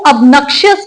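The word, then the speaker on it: obnoxious: हमारा आज का लास्ट एडवांस वोकैबलरी वर्ड है ऑबनशियस। ऑब्नक्षक्शियस या इसको अबनक्षस भी बोला जाता है। तो इसको भी डिवाइड करते हैं सिलेबल्स में। अब नक्षस यस ऑब्नॉक्शियस इसके अंदर भी तीन सिलेबस हैं।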